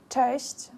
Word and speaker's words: Cześć: You would say it like, cześć, mam na imię Will.